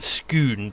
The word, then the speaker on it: Scone: it scone in scotland as in the stone of scone uh except that you pronounce it schoon don't you cool is